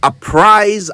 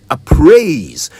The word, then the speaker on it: apprise: Now, I have heard some people say appraise when they mean to say apprise.